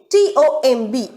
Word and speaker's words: tomb: m and b letter if they sit together in a single word the b is silent here example two t-o-m-b the gravestone so the